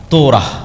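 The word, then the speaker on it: Torah: তোরাহ বলে ইহুদিরা উচ্চারণ করে যে তোরা যখন তাওরাত দেওয়া হলো।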